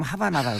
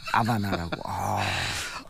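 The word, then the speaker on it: Habana: 쿠바를 갔다 오니까 보통 이제 영어 발음 하바나라고 그러잖아요. 아바나라고. 저 예전에 로버트 레드포드 레나 올린 주연의 아바나라고 얘기했죠. 하바나라고 얘기하지 않았습니다.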